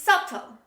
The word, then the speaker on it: subtle: lim lim the next example subtle don't say subtle b is not pronounced when we say this word this is subtle subtle say with me subtle